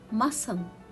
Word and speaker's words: muscle: crescent descend fascinate ascent conscious disciple scissors ascend muscle fluorescent conscience and discipline again my dear students